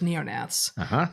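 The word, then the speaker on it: neognaths: There's paleognaths and there's neonaths with a silent G in the middle of both.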